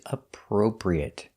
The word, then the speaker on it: appropriate: Our next word is appropriate. This word is difficult to pronounce because you have the per sound 2 times.